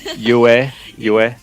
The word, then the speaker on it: Pyue: I'm here joined by Pyue. I keep mispronouncing it. Is it Just Pyue? call me Yue. Yue. You can ignore the P.